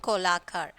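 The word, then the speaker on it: Kolatkar: So the T is silent. Arun Kolakar.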